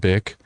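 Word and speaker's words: Bich: Her name is spelled like bitch, but it's pronounced bick.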